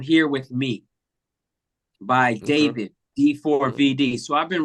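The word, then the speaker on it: D4vd: brother uh by the name of you you pronounce it David but he spells it D4 v d d the number four the letter V the letter D but it's pronounced David and I first got exposed to one of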